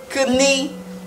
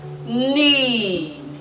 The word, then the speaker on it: knee: k is knee knee so this word is not kuni kuni kuni so what you have is knee knee knee now knee